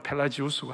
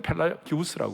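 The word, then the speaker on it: Pelagius: 하나는 펠라기우스라는 사람이 있고, 미국 발음으로는 펠라지우스고 한국은 펠라기우스라고 그러고, 어거스틴이 있었어요.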